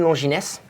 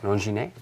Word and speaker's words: Longines: Longines? You don't have an accent on an E, so Okay. you won't have to... You cannot pronounce it like that.